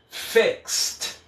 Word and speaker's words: fixed: Depois da letra X, quando eu colocar o ED, esse ED vai ficar com o som de T. Ok? Então aqui, ó, fixed, fixed, fixed. É um som de T, eu vou do X direto pro T.